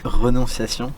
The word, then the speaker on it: Renonciation: And as usual, Henry's going to correct me on the pronunciation, maybe? Renonciation.